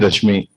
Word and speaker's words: Reshmi: Reshmi ma'am. She is from Rashmi, sorry. Spelling is RESHMI, but pronunciation is Rashmi.